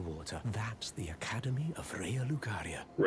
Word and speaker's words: Raya Lucaria: That's the Academy of Raal Lucaria. Rya Lucaria sorceries. But again, that's why we're practicing our proper pronunciation.